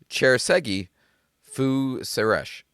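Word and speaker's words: Cserszegi Fűszeres: The pronunciation is cherggi fuesh.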